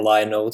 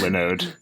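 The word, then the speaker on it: Linode: that it is pronounced Lode It's a combination of Linux and node okay yeah I remember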